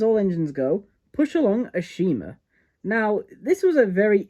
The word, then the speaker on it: Ashima: For one thing, they start referring to her as Ashima instead of Ashima, which apparently Ashima is the correct way to say her name, but I'm very used